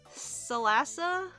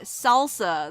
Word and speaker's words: Salasa: It's everyone pronounces it salsa the first time. Ah. Yeah, if you read it too fast, it definitely comes across as salsa.